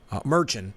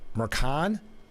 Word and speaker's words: Merchan: I thought it was Merchant, but I heard Jake Tapper yesterday say it Mercan.